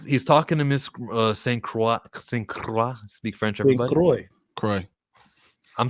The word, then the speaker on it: Saint Croix: But as soon as I heard Saint Croix from Kaiser Guslevin, I'm saying, that's exactly the correct way to say it. All right, I'm gonna roll with Saint Croix then.